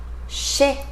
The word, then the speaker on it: chez: Final Z, chez, chez, né, né, chez, né.